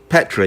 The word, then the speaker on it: Phetra: Petra? Am I saying it right? Petra, yeah.